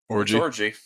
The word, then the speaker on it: Orji: How do you say that last name? Orji. Well, not the fun kind though.